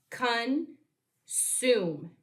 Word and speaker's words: consume: vowel consonant E syllable, where the E doesn't make its own sound, but it gives us a hint to use the long vowel U to read this syllable.